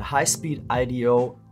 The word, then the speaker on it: HispeedIDO: is what we are looking for for the highspeed Ido yes I Googled it and found out how to pronounce it correctly N64 HDMI mod kit it